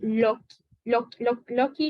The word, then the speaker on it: loci: Y ojo, una cosa muy importante que se me pasó a decir es esto de Loki. Loci, se escribe Loci, ¿ok? Pero es como tal un Loki.